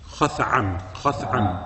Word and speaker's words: Khath'am: How you pronounce it? Khath'am.